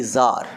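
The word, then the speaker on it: tsar: the mind of a jar t s a r the pronunciation would be zar jar is a russian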